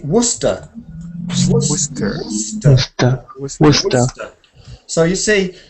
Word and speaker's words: Worcester: We say Worcester. Worcester. Worcester. So you see, sometimes sester is sester, but sometimes it's unstressed, and it's just.